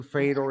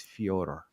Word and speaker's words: Fyodor: I may say like in conversation Fedor and stuff, but you corrected us in season 5 and you said it's Fyodor.